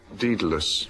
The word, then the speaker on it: Daedalus: And the father, Frank and I once wrote a sketch on this, and our version was Dead Loss, but the Greek pronunciation is Daedalus.